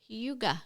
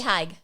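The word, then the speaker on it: hygge: I've been reading this book uh called holy hauga oh is that how you say it Huga I think so it's not Hai it says right here Huga yeah she's got the pronunciation on the book book Huga but h y g g e for people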